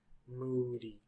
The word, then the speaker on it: moody: ooh moody together moody moody where's the stress the loud long moody moody the stress on the first one moody moody ooh moody